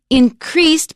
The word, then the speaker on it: increase: Increased, because it's a verb, we stress the second syllable. And increase, that's a noun, stresses on the first syllable. Increased is the verb, stresses on the second syllable.